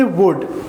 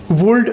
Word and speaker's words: would: वुड like to, WOULD, इसमें देखने में L नज़र आ रहा है लेकिन इसको हम प्रोनाउंस नहीं करेंगे। L यहाँ पर साइलेंट लेटर है, तो इसको हम पढ़ेंगे वुड, वुल्ड नहीं पढ़ेंगे। ठीक है, कुछ बच्चे इसमें गलती करते हैं, कुछ स्टूडेंट्स इसको वुल्ड पढ़ते हैं। ये वुल्ड नहीं है, ये है वुड।